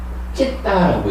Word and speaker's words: citta: 여기 발음하는 방법이 영어하고 조금 다른데 CITTA를 쓰고는 찢다라고 읽어요.